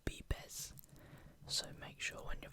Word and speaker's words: vives: Donde vives, but I will point out that a V in Spanish is pronounced as a B, so vives.